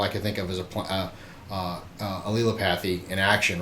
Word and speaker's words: allelopathy: And if you haven't heard of allelopathy, or maybe you've heard people call it Allelopathy, I've heard a bunch of different pronunciations. Allelopathy, I believe, is one of the correct ways to say it, so I'll stick with that.